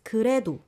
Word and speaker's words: 그래도: It sounds as if there's a liel pachim to 그래도, but you separate those, right? Yes. Again, 그래도 we don't have a 받침 here. Yeah. So just softly you pronounce it as 그래도.